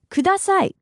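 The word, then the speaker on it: ください: in Japanese please is K broken down by syllable it's Al together now kudasai the most rudimentary way of using this phrase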